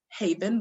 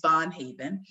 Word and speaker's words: Von Haven: in the house and i apologize for mispronouncing your name is julie von haven she is in her